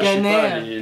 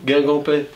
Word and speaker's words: Guingampais: À part je les sais pas, Guinganais. les Guingampais.